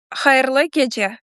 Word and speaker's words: Hayırlı gece: Yeah, can I learn you how to say it in Crimean Tatar language? I would love to. Yes. Yes. Hayırlı gece. Hayırlı Yes, hayırlı gece. It means на добраніч, good night.